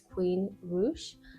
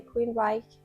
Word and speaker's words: Queensrÿche: This is, I checked the pronunciation by them and they said it's Queensrÿche, but a lot of people also say Queensrÿche or Queensrÿche. I feel like it's Queensrÿche because I saw an interview from them.